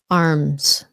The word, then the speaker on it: arms: of course arms arms again it sounds like a z when you're talking about both of them arms okay chest chest sometimes